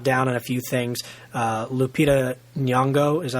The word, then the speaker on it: Lupita Nyong'o: Lupita Nyong'o, is that how you say her name?